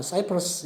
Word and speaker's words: 키프로스: 뭐 그냥 영어식 미국식 발음은 사이프러스 이렇게 말하는데 우리가 일반적으로는 키프로스 이렇게 말하고 지중해 있는 아주 큰 섬입니다.